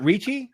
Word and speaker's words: Ricci: know God damn it I keep saying it wrong is it Richie yeah okay Christina Ricci yeah yeah